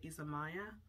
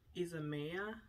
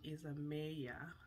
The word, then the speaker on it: Isamaya: So she said Isamaya, as in A, the alphabet A, because in my language, the alphabet A is pronounced A. So my thought was to say Isamaya, but she pronounces it Isamaya.